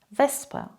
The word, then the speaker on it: Wespe: Zum Beispiel Wespe, Lispeln, Obst, Fast, Kosten.